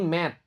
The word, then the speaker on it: met: Ingat ya, ini bukan meet, ini mat. Verb 1-nya meet double double a. Yang verb 2, verb 3 cara bacanya mat. E-nya jadi satu.